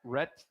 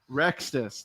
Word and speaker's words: Rexus: Matt Ret Matt R. Now, now we did it. We did it wrong twice. Matt number Rexus. That's it. I don't know why I'm pronouncing it incorrectly.